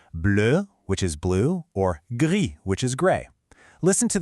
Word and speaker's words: gris: Notice that the S at the end of gris is completely silent.